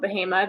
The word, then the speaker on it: Bahama: I'm originally from just north of Durham, North Carolina, in a small town called Bahama that no one has ever heard of, but is spelled like Bahamas, which is fun.